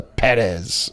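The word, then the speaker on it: Pérez: watch Emilia Perez, because the emphasis is on the first E in Perez, so I believe you pronounce the Perez.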